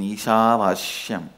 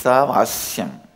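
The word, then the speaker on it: ईशावास्यम्: Listen, my pronunciation Ishavashyam is also Padabeta. How I heard from my masters, I am repeating, but actually it is Isavasyam. Isha is not Vasya.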